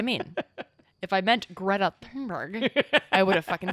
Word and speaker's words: Thunberg: I mean Greta Thunberg. That's what I mean. If I meant Greta Thunberg, I would have fucking said that. But that's not how you say her name.